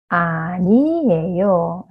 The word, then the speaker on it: 아니에요: so ' 안이에요' just make it smoother '아니에요' so this 'ㄴ' sounds move on to the next syllable, so '아니에요'.